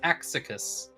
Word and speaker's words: Axicus: If you're staring at his character's name and wondering how to pronounce that, I'm pretty sure it's Axicus. Yes, yeah, and I've created hopefully a good character behind Axicus, and we'll see how this goes.